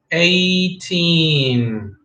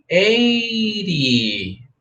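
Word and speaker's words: eighteen: all right six times three equals 18 don't forget the teen at the end 18 18 18 that we don't confuse with 80 okay 80 and 18 okay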